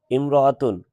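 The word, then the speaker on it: امرأة: উল্লেখ্য, ইমরাতুন শব্দের পূর্বে যদি অন্য কোনো শব্দ আসে থাকে, তাহলে আলিফ যে হামজা দেওয়া আছে, এই হামজাটা উচ্চারণে আসবে না, হিয়াম রাআতুন আসবে।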